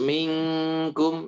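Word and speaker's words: مِنْكُمْ: Terus minkum. Nah, itu harus dibacanya atau ikhfa. Oh, ikhfa ya.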